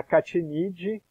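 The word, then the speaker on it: Achatinidae: A família é a Catinidae, tá? Como é latim, tem algumas peculiaridades aí na forma de pronunciar. O CH fica como K, como se fosse som de K.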